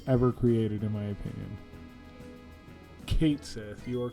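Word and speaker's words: Cait Sith: the worst characters ever created in my opinion Kate Sith you are correct actually because they do pronounce it in rebirth um I just think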